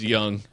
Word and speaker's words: Jung: know why this site wasn't working why it's pronounced young yeah did you say jug yeah that's brilliant